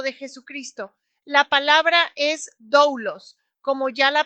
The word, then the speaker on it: doulos: La palabra griega para siervo es doulos y significa esclavo, siervo varón o siervo por vínculo.